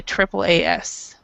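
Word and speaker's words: AAAS: most of the time in English when there's three A's in a in Three A's in a row it we will say Triple A we'll say Triple A S okay um most of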